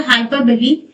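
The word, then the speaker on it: hyperbole: हाइपरबली spelling उसकी ऐसी होती है लेकिन प्रोनंसिएशन होता है हाइपरबली।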